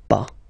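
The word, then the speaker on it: pas: after that pa okay we write it p s okay but as usual final s is not pronounced so it's pa okay remember one thing in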